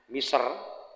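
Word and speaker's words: مصر: Egy sebutan orang Egypt itu nama negara dalam bahasa Inggris nama miser dilafalkan Miser dalam bahasa Arab disebut oleh orang-orang Inggris pelafalan Egypt.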